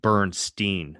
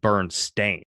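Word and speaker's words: Berenstain: So, a lot of people remember it being Bernsteeen, but it's in fact burn stain.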